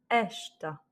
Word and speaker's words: esta: Et donc, l'accent tonique se fait sur l'avant-dernière voyelle. Et donc ici, c'est le E. Et donc, on va intensifier le E en disant esta.